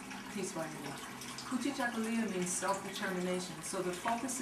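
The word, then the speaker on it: Kujichagulia: The second day, which is December 27th, is Kujichakulia. I know the pronunciation. Peace by you. Kujichakulia means self-determination.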